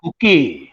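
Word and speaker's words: Hooke: Robert, actually इसका pronunciation तो हुक है, बट मैं हुकी बोलता जान लीजिए ताकि बच्चों को याद हो जाए।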